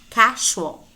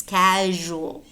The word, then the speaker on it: casual: these words as exceptions casual it is not casual it's casual casual leisure leisure usual